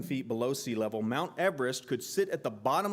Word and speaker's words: Everest: someone and he and all of the british people the time pronounced pronounced it eve rest so we've been promoting mount everest wrong at least i have my entire life mount everest which sounds wrong is 29 032 feet